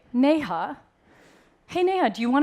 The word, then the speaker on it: Neha: the way all right so you're gonna say nay huh hey Nana do you